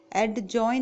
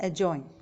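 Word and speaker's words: adjoin: एडजॉइन नहीं बोलेंगे, correct English है एजॉइन. डी साइलेंट रहेगा.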